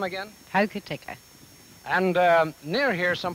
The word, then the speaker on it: Hokitika: here in this little town how do you pronounce that name again hokitika and uh near here some 40 miles away